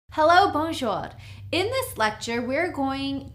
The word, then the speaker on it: bonjour: say hi hello hey you would simply say bonjour it's two syllables bonjour so you would say bonjour which means me I I bonjour okay mattel